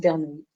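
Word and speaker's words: Bernoulli: loi de bernoui mais notez qu'il n'y a pas de i ici il y a pas de i euh mais on la prononce bernoui de paramètre p quand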